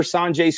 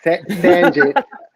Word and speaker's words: Sanjay: Sanjay. Most people say Sanjay, but it's San.